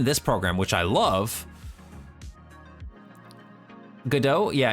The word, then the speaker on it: Godot: And like I said, there's some really excellent tutorials out there right now for games that people have made in Godot.